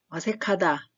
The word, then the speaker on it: 어색하다: 어색하다, 어색하다, 하다인데 카다 소리가 살짝 나죠? 기역과 히읗이 만나면 키읔 소리가 나기 때문에 어색하다, 어색하다.